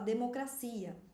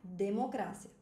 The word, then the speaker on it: democracia: Isso aqui é um exemplo de heterotônico. É uma palavra que tem uma sílaba tônica diferente no espanhol e no português. E no espanhol a gente pronuncia democrácia. Fala depois de mim.